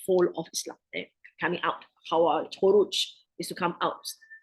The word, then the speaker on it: Khawarij: It's Khawarij. By the name itself, it means they have come out of the fold of Islam. Coming out. Khawarij, Khuruj is to come out.